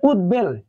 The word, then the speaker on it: উদ্বেল: হচ্ছে সুন্দর নিয়ম যে উদ অথবা উদ এই উপসর্গের সাথে যদি ব ফলা যুক্ত হয় অর্থাৎ ব ফলাটা যুক্ত হবে মূলত ত এর সাথে ত এর সাথে অথবা দ এর সাথে যদি যুক্ত হয় তার উচ্চারণ অবিকৃত থাকে তার মানে কি ব ফলার উচ্চারণটা বজায় থাকবে দেখো যে উদ্বেল দেখো